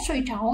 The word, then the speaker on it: 睡着: Ở đây các bạn sẽ thấy từ này sẽ đọc là 睡着, 睡着 nghĩa là ngủ say đấy.